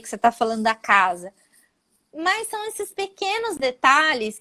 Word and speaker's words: casa: Zzz, casa, não é caça. Porque caça com C cedilha é outra coisa em português.